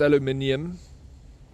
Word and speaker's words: aluminium: It's aluminium. The Americans are just too lazy to pronounce the extra eye.